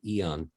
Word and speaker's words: Aeon: We have a beautiful patch called Eon. It's spelled AEON.